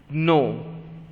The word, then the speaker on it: gnaw: Okay, but make sure its pronunciation whenever you are speaking, it's no, like N-O, no. G-N-A-W is also no. So G and W are silent.